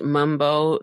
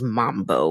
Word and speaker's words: Mumbo: do some bumo yeah the internet is saying it's pronounced Mumbo no matter how it's spelled but M A or